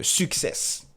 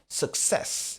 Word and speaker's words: success: Donc le stress la l'accent est sur la deuxième syllabe. Ça sera success. Et le son ce n'est pas un a ou un ou mais plutôt un a.